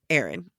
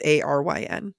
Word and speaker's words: Aryn: This comes from Aaron. I think that's how you say it. It's Aryn.